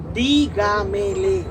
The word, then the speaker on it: dígamele: Así cuando tú dices, dígamele, está en la cuarta. Dígamele, está en la cuarta el acento.